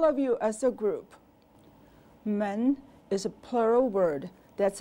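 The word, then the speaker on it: 们: listen men men men it has a nasal quality to the sound the is neutral now repeat after me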